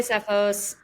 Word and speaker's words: Tseffos: social yes find sephos her name does not pronounce the T in sephos but there